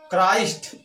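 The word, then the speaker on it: Christ: C plus H हो तब भी उसका उच्चारण क होता है।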